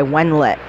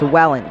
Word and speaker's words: Welland: Picked up by Wenlet. And that's out to center ice. No, it's Welland. That's how you pronounce it.